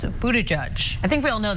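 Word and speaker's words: Buttigieg: last name a mere Pete's last name is pronounced of Buddha judge I think we all know that since we're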